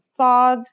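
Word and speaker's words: ص: The Sad is basically the strong version of the Sin we learned in the last lesson, and it kind of sounds like the S in the word saw. This sound is pronounced with your throat constricted.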